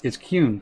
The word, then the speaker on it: Qyune: I've been called Qyune, Qyune, It's Qyune for all purposes. It's Qyune. But it kind of rhymes with rune if it makes any pronunciation easier.